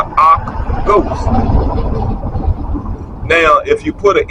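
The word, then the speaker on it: Akh ghost: All are rations for the Ark Ghost. And it's spelled AKHGHOST. The Ark Ghost.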